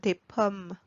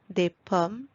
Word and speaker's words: des pommes: Do not pronounce the S at the end, as it remains silent. Des pommes, des balles, des erreurs, des camions.